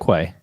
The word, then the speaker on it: Quay: Quay. Is it Quay? Yeah, right? If you're in Ireland or England, they pronounce it key actually. But okay.